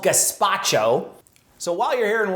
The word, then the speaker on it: gazpacho: people mispronouncing this online it's not gestapo um i think that's a kind of flat bread that's not that's not soup uh it's called gazpacho so while you're here